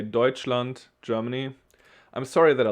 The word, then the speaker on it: Deutschland: can be a little confusing but this is pronounced deutschland it's germany if you want to ask the